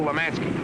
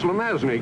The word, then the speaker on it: Lemansky: He's going to knock off, kill Lemansky. He's pronounced Lemazny, Gibbs.